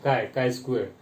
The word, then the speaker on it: chi-square: Okay, CHI. It is pronunciation is KI, chi-square.